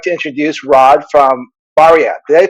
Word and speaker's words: Barya: So I'd like to introduce Rod from Barya. Did I pronounce that right?